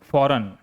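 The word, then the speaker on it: foreign: एक सुंदर रचना तैयार की अगला वर्ड देखिए फॉरेन एफ ओ आर इ आई जी एन फॉरेन विदेशी ही is learning a फॉरेन language वह एक विदेशी भाषा सीख रही है।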